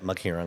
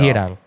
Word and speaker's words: Maghirang: Yeah, Maghirang. There you go. Maghirang.